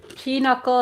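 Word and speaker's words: pinochle: 400 cuz they're all pin knuckle players on the 515 he always hits for 100 cuz they're all pck players on the 55 PE knuckle is not spelled phonetically well it could be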